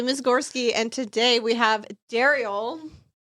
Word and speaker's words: Derrial: Cuz Ryan, who I've known for years, has done different altercations of my name today. Daryl, Derell.